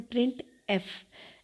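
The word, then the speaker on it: printf: प्रिंट एफ function को हम लोग प्रोनाउंस करते हैं प्रिंट एफ। एफ अलग और प्रिंट का वर्ड अलग प्रोनाउंस किया जाता है।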